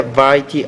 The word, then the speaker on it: variety: respect for the entire variety of Human Experience pronounce the uh V with a little bit more vibration variety the entire variety